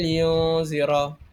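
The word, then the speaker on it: يُنذِرَ: Untuk ayat surah al-Kahfi ayat satu dan dua ini mempunyai ra tafhim a saya dengarkan qayyimal yunzira. Jadi ra itu dibaca tebal kerana huruf ra berbaris fathah atau dammah.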